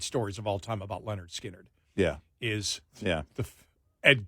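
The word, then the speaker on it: Lynyrd Skynyrd: on the backside of pronounced Leonard skinnard when you see them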